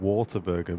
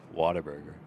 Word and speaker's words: Whataburger: I used to think Whataburger was called Waterburger because of the accent. You got to say it like that. Whataburger.